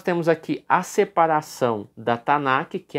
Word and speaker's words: Tanakh: Ruth pertence à terceira divisão da seção da Tanakh, tá? Que no caso aqui, a pronúncia seria Tanar, né? Tanar, a Bíblia hebraica.